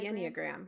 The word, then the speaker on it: Enneagram: But what we're talking about is a thing called Enneagrams. Is that how you pronounce it? Yeah, the Enneagram.